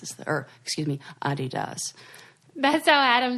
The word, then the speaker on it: Adidas: yeah D this is the earth excuse me Adi does best I had him say it cuz that's